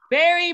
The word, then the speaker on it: bury: Berry, berry. Berry, berry, right? Exactly the same sound.